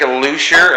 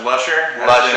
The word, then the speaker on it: Luscher: we are at Sig lucier am I saying that right well it's actually pronounced Lusher I'm a lush I'm